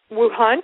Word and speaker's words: Wuhan: And the studies began in Wuhan. Is that how you say it? That's correct. Wuhan, China, where the largest and oldest number of Feng Shui texts exist.